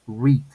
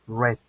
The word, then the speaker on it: read: Es decir, que al pronunciarlo en infinitivo digo read, ahí sí hago una especie de i alargada. En pasado y en pasado participo. Suena como el color rojo, red.